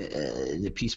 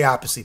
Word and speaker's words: Appice: I say Appice, by the way. That's how I pronounce it. Yeah, well, you're correct on one. If you talk to Vinnie, it is Appice. If you talk to Carmine, he'll yell at you and tell you it's Appice.